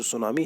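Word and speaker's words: tsunami: आपका कैसे लिखते हो टी एस यू एन ए एम आई यह है सुनामी की स्पेलिंग ठीक है तो टी यहां पर साइलेंट हो जाएगा और यह जो वर्ड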